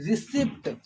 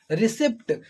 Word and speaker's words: receipt: people pronounce this word receipt receipt they also use the word this p in their pronunciation which is not a correct which is not correct at all because p is silent here the word pronunciation will